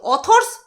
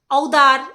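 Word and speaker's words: author: করতে পারছে না আদার ঔদার এরকম মানে ইউ এর উচ্চারণ যেহেতু ইউ টা যেহেতু আছে তার জন্য ওরকম উচ্চারণ করছিল তো কমেন্ট বক্সে ওকে বুঝিয়ে দিয়েছে যে ওটার উচ্চারণ অথর হবে অথরস হবে তো আর ও আর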